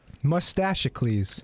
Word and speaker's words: Mustachicles: Mustachicles. As in Hercules? Like Hercules and Pericles.